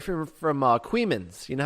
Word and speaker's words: Coeymans: This is a local story right from Queemans. You know how Queemans is spelled?